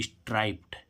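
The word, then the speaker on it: striped: ड आ रहा था लेकिन इसमें प आ रहा है क आ रहा है फ आ रहा है स आ रहा है च सा आय और डी और ईडी जोड़ने पर इसको हम ट पढ़ेंगे तो देखो हम इसको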